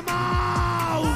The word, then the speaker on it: Mahou: Mau es una marca de cerveza española, ¿vale? Para quien no lo sepa, que se escribe Mahou con H intercalada entre la A y la O.